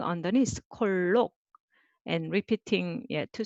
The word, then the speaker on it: 콜록: 자, this one is again four syllable, but you can just write two syllable. 자, here comes the sound. 콜록, 콜록.